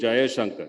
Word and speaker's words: Jayashankar: for you to understand my name is jaya shankar you know jayashankar has ja ya shankar for varnas these four varnas are four syllables put together make the and when i